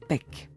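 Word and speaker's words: pek: Mais chien en Maya se prononce pec.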